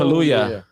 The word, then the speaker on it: Kaluuya: Kaluuya. Yeah. Yeah. Kaluuya.